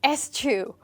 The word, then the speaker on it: eschew: Okay, that's almost how it's pronounced. Achoo! This is eschew, and this word is not so common for the reason that it's very hard to pronounce and it's almost like we are sneezing.